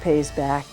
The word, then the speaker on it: PAYS BACK: It's pronounced Pays Back. The initials represent physical activity intervention for surviving beyond cancer.